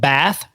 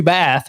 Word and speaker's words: Bath: in Orman's hometown of Bath, North Carolina. And that's spelled B A T H, like taking a bath.